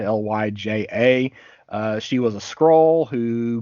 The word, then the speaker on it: Lyja: I'm not caught up on Fantastic Four, but we have the return of I pronounce her name as Lyja, Lyja.